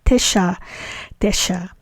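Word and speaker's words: תשע: by u t so the absolute state of the number nine is Tesha Tesha and its construct state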